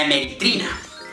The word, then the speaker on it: hemeritrina: La pronuncié mal. La hemeritrina.